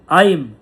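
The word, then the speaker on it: ঐম্: আইম claim সোমায় নামহ আমরা যেটাকে ওইং বলি সেটা সংস্কৃততে সংস্কৃততে প্রপার উচ্চারণ হচ্ছে আইম ওম আইম claim Somaya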